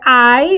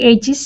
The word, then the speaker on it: hay: And remember that the H is silent, so you don't say hey, you don't say hi, you say I.